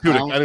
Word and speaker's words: Tudyk: It's and he Tudyk, also, right? Yeah, I think that's how you say it, right? Yeah, Tudyk. Alan Tudyk.